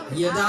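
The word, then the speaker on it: যদা: জয়ের উচ্চারণটা ইয়া, মানে ইয়দা ইয়দা হি ধর্মস্য গ্লানি, এরকম হবে আর কি।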